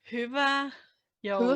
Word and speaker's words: Hyvää joulua: Hyvää joulua. Hula? I don't know the last one. Is it like an O or is it like a U? It's Joul.